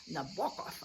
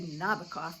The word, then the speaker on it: Nabokov: experience with, was Vladimir Nabokov. I had to learn how to pronounce it. I used to say Nabokov, but when you take the course, the teacher says you must say Nabokov.